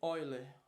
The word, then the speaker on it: Euler: centrífuga e a força de oiler se escreve de Euler que tem relação com